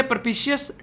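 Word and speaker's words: propitious: Next शब्द है यहाँ पर, ये है प्रपिशियस, टी साइलेंट है यहाँ पर, अनुकूल बोलते हैं इसको।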